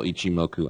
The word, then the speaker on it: Ichimoku: Now, this is how you pronounce and spell Ichimoku. I'm dyslexic, so I do it like this. I see, and I break it into H-I-M-O-K-U, Ichimoku.